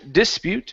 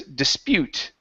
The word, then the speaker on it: dispute: Instead of dispute, the word is dispute.